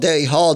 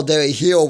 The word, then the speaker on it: Dairy Hall: For years I called Dairy Hall Dairy Hill when it's spelled H-A-L-L, not H-I-L-L. So I call it the wrong name for years.